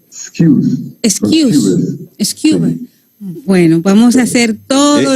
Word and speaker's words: Skewes: La pronunciación correcta es Excuse.